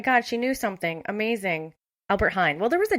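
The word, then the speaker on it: Albert Heijn: can't you guys hey google how do you pronounce the name of the largest dutch grocery store chain albert hein oh my god she knew something amazing albert hine well there was a j in it so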